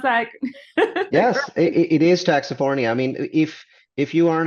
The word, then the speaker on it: Taxifornia: Did I pronounce that? Yes, it is Taxifornia.